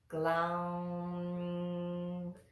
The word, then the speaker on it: Glauṁ: onions feta and so we float the tongue to the roof of the mouth for that mmm sound at the end again this is pronounced clown clown Wow hello now